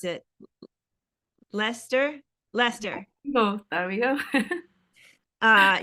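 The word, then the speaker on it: Leicester: Lester Lester. Oh, there we go. Uh, UK. Thank you. I look at that word and I don't see Lester.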